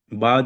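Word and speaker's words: بعد: अना बीजी बाद योमेन, बाद योमेन, ऐन को कोशिश करें आप गले से निकालने की।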